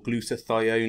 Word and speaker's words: glutathione: And the other one I use as well is glutathione, or glutathione, if you want to pronounce it that way.